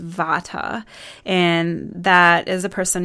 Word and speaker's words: Vata: and they're around the elements so one is pronounced Vata and that is a person who has primarily